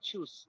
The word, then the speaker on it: choose: Oh, I just want to remind you when you're pronouncing the word choose, okay, don't pronounce it like I chew. Okay. Always pronounce it with s sound. Okay. I choose.